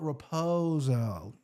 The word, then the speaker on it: Raposo: I guess right Mitch ruzo yeah Mitch raposo raposo that's how you say it plus 215 versus